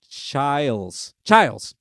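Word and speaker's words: Chiles: I just wrote it down phonetically too. Chilas.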